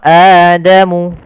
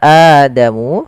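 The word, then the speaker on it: آدَمُ: pelafal AdaMu di sini ada bacaan mad badal Apa itu mad badal mad badal adalah Mad yang terjadi apabila ada huruf hamzah bertemu dengan huruf mad baik itu fathah Maaf baik itu Alif atau wau atau ya yang mati nah sementara di sini ada Adama Ada fathah bertemu Alif maka ada hamzaah bertemu Alif mad badal eh yang disertai dengan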